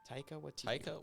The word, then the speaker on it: Taika Waititi: And speaking I of think I might Natalie have forgot Portman, how do you pronounce his name again? Taika Waititi.